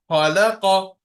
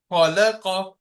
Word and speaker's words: خلق: ترك Now words with thick and high letters. Razaqa, razaqa, khalaqa, khalaqa, balagha, balagha.